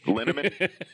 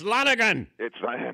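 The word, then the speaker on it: Lonnegan: How about the train scene when Newman comes in, acts like he's drunk, and he keeps mispronouncing the guy's name? Oh, yeah. Linneman. It's Lonigan.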